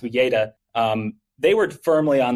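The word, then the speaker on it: Uyeda: commissioner Pur and commissioner I think it's pronounced UGA um they were firmly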